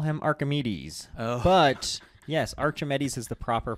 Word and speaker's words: Archimedes: that he reckons call him Archimedes but yes Archimedes is the proper pronunciation did you know Luke oh no he